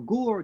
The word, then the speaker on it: Ger: Rabbi Yehuda Leib Alter Ger, this is about 130 years ago, in the Polish city of Ger or Gur, depending how you pronounce it, he brings a verse from Proverbs that says, death and life are in the hands of the tongue.